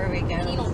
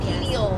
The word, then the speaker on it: pineal: Maybe it'll help you with your penile gland thing that you do. times. I don't wake up that early. It'd be the evening things. Times. Sun-gazing? Sun-gazing. Yeah. Pineal. My pineal gland. Say it wrong. Pineal.